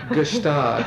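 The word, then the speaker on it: Gstaad: Jacuzzi right now in gustab as I choose to pronounce it I know most people don't pronounce the G but I do because I'm Different well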